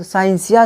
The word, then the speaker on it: scientia: Latin शब्द साइंसिया से लिया गया है। साइंस कहाँ से आया हुआ है? लैटिन शब्द साइंसिया से साइंस का निर्माण हुआ है मूलतः, जिसका उच्चारण हिंदी में साइंसिया होता है।